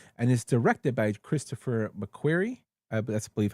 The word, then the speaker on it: McQuarrie: It was a series by Lee Child and is directed by Christopher McQuarrie.